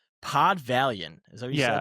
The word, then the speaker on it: Valiant: Pod Valiant. Is that what you said? Pot Valiant like Valiant like uh it's spelled V A L I A N T.